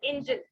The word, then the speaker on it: Engel: एंजल ए वाला नहीं है, ई है, ENGEL, एंजल, इंजन वाला एंजल।